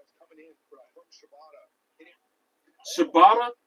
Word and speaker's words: Shibata: Shibata sounds like a type of bread, bro. There's one dude named on AEW who's is Shibata. It's spelled with an S, but it sounds like the bread that starts with a C.